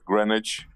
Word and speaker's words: Greenwich: we get this sorted it's it's greenwich oh sorry greenwich my bad also you don't proud you don't pronounce the w no thank you that's